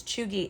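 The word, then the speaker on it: cheugy: Chooi. Chooi. Okay. But it's spelled C H E U G Y but it's pronounced as cheooy is used to describe something which is cringe,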